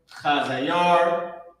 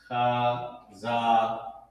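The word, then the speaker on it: חזיר: So, Cha-Za, the character Yah, and the character Ra connected, Yar, Chazayar. That's how you pronounce it. Chazayar.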